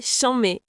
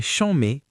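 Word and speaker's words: chanmé: C'est chambé. C'est chambé. Attention à la prononciation.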